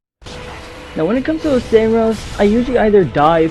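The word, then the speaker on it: Oceiros: Yes, I believe it's pronounced Oseros, not Osiris. It's just how I think it's pronounced.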